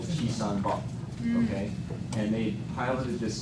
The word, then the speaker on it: Chisanbop: It's Chisan-bok.